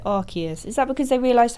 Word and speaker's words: Arceus: It used to be pronounced Arceus, but later got changed to Arceus.